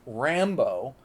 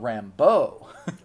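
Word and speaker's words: Rambeau: As we move on to Monica Rambo, not pronounced Rambo, but Rambo. It's French. It's or or like Cinjun. It's not like the um the wilderness man from Vietnam.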